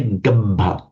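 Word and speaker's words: gabbha: So just again say gabba again with this distinct doubling of the V.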